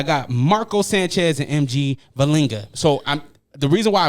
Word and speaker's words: Vellinga: Uh, I got Marco Sanchez and MG Valinga. So, I'm The reason why I point at you is because your last name always throws me off. Did I pronounce that right? Yeah, you did.